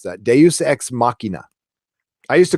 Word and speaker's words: Deus ex machina: It took me forever to figure out how to pronounce that. Deus ex machina.